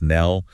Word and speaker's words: Nell: Kim Jong-wan of the band Nell. And just for clarity for everyone listening that's Nell, pronounced like the word bell, but with an N. Nell.